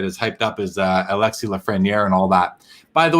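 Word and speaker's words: Alexis Lafrenière: a message saying in in french we don't pronounce the s i've been saying alexis lafreniere i'm now going to change it and say it's it's alexi lafreniere and i didn't know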